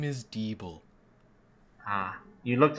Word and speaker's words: Deeble: My name is Deeble. You looked How like do you spell that? Yeah, you looked like a Deeble. Oh, thank you. It's Bull. D-E-E-B-L-E.